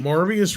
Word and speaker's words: Morbius: minute this young lady marvius rhymes with glorious spiders it is totally